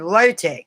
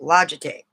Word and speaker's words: Logitech: this logitech camera and I actually pronounced it wrong I said low-tech is pronounced logitech but I'm still learning things